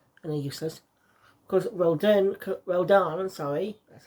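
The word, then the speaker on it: Rodin: Of course, Roldan, that's how you pronounce it, comes in and gives Bayonetta new versions of the weapon she got in the last game.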